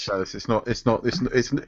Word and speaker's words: Chalice: does she pronounce her name Chalice? No, Yeah, it's just Chalice. It is Chalice.